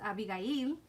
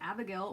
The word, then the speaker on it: Abigail: It's supposed to be pronounced Abigail. That's what my parents intended, Abigail, but everybody says Abigail or Abby.